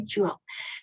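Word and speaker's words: joule: dalam standar internasional adalah jok bacanya jual simbolnya J besarnya nah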